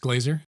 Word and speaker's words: Glaser: Is it pronounced Glaser?